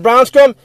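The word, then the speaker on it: Brownscombe: And as I stated right there, Brett Brownscrum, his last name is spelled Browncscombe. Brett Brownscrum.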